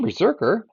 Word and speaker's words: BRZRKR: take out the vowels so this one is spelled BR RZ r KR Berserker the story follows an